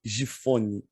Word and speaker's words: Giffony: Estamos começando aqui mais um Papiando a Palavra, hoje com a presença ilustre desse meu amigo, o Glauber Gifone. Acertei a pronúncia do sobrenome?